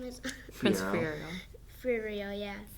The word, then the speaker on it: Fiyero: Prince Fiyero. Fiyero, yeah. Fiyero, sorry.